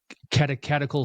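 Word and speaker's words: Catechetical: He was the uh uh teacher at the katakatical school. That's how you pronounce it there in Alexandria early on.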